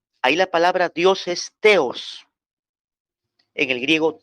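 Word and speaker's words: θεός: al Dios padre ahí la palabra Dios es teos en el griego teos t h e o s t h e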